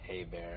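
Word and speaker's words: Hebert: and by the way my last name is pronounced hey bear if you care yes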